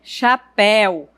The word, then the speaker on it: chapéu: Já a palavra café e chapéu, você observa que o E ele é pronunciado de uma forma mais aberta. Eu digo café, chapéu.